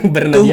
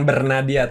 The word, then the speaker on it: Bernadya: reminder kalau pronunciation-nya bernadia itu bukan Bernadiah yaitu Bernadia.